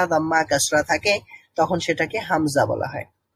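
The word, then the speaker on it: همزة: natural হা তারপরে রয়েছে হামজা হামজা হামজা এটার উচ্চারণ হচ্ছে এটার এই বর্ণটার নাম হচ্ছে হামজা তবে এটার সাউন্ড হচ্ছে আ এটা হচ্ছে আ সাউন্ড যেমনটা আলিফের যে সাউন্ডটা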